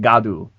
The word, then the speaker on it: God: Actually, it is literally pronounced Super Saiyajin Gadu. It is spelled like God.